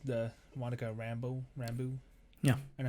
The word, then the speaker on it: Rambeau: The Monica Rambeau.